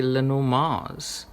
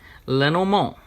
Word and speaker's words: Lenormand: Lenor March or the should that be Lenor Mars. I've been watching other people's videos and those European guys have really got it covered with the pronunciation. So Lenor Mo, we're no more Lenand, it's Lenor Mo.